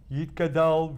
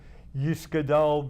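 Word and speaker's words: יִתְגַּדַּל: But the very recitation of those words, Yitkadal v'Yitkadash Shemei Rabbah, or an Ashkenazic pronunciation, Yiskadal v'Yiskadash Shemei Rabbah, touches the Jew in a way that the translation of the words cannot touch.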